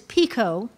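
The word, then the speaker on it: pekoe: The word is pico.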